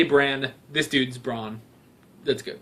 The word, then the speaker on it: Bran: They say Bran.